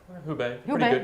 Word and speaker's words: Hubei: I think I'm mispronouncing this, right, Asher? Hubei, there we go.